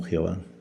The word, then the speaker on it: Jehová: Algunos lo pronuncian como Yahweh, Yahvé y otros como Jehová. Su pronunciación exacta se ha perdido.